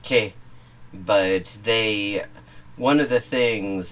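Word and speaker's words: και: In Greek, that's pronounced ke, but one of the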